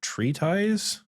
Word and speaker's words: treatise: Treatise pronunciation.